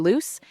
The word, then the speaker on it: Luce: early phase, a homeowner, Mr. Luce, and that's spelled L-U-C-E, so you get the irony here, notices a single block in the foundation that's loose. A loose block.